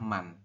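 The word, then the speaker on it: 만: Bintang ini dibacanya adalah man.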